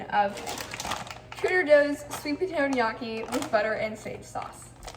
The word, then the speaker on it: gnocchi: Also, it's pronounced gnocchi. If you say gnocchi, I don't like you.